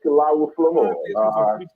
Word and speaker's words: Kilawu Flomo: It's Kilawu Flomo. That's the pronunciation of my name.